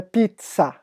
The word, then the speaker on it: pizza: Ou vocês chamam aquela coisa maravilhosa de comer de pizza, ou a pronúncia certa é pizza.